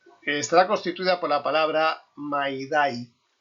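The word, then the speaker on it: mayday: La señal radiotelefónica de socorro estará constituida por la palabra maidai, pronunciada con la expresión francesa maider en español med. No May ni May.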